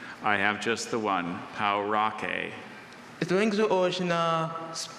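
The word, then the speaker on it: Pauraque: Or is there any alternative pronunciation? I have just the one, Paurake.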